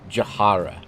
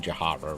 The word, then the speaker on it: Jahara: Jahara. I think I'm pronouncing Jahara right. Like Sahara, but Jah. First thing I want to do.